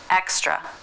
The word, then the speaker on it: extra: Let's put it into the word extra, slowly. Extra, extra. That's the unvoiced pronunciation.